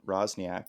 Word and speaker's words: Roczniak: we have an awesome new guest named rosniak did i say your name right yes